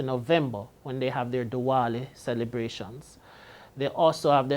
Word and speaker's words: Diwali: Please note, East Indians do not pronounce the V with a V sound. They give it a W sound. So they don't say Diwali as we would say it in Jamaica.